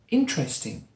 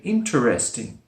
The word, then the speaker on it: interesting: A lot of people, when they're learning English, they say interesting. Interesting, with 4 syllables. Sometimes it's spoken like that, yes, but often it's spoken with just 3 syllables. One is dropped, which makes it interesting.